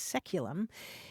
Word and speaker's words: saeculum: Anthony says the word that this caller is looking for is the Latin word saeculum, S-A-E-C-U-L-U-M, which in English is pronounced seculum.